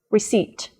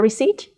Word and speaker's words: receipt: I will do the conversation again with correct pronunciation ready Pisa Salman says fill it receipt come cell purchased Chicago did you fix my